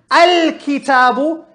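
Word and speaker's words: الكتاب: Al-kitabu. Can you hear me saying al? I pronounced the hamza because it came at the beginning.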